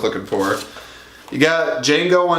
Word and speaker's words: Django: for it you got Django Unchained the D is silent you